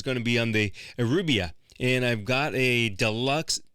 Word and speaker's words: Euribia: I was saying Euribia. It's Euribia. It's with an I, not a U.